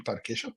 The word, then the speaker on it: pão de queijo: That's the Portuguese pronunciation, pão de queijo.